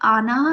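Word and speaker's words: आनाह: यह अनाहा है, अरुची नहीं। इसका उच्चारण कभी गलत न करें।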